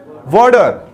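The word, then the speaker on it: water: इसी तरह एक और वर्ड है वाटर. हम इसको बोलते हैं वाटर, लेकिन ये टी नहीं, ये वाटर है. क्या है? वाटर. Just because we have to vowels before and आफ्टर टी. T comes between two vowel. T दो वावल के दरमियान आई हुई है, इसलिए हम इसको वाटर नहीं वाटर बोलेंगे.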